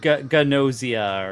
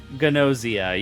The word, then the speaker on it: Gnosia: Um, we're playing it's like Ganosia or something like that, but um, it's it's kind of like a uh it's Among Us, but in a visual novel form. Ganosia. Yeah, there we go. But it's it's spelled G N O S I A.